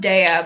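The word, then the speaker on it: Daiya: Dia oat cream cheddar shreds I know it's pronounced DEA but I I just prefer saying Dia um those must be new I I got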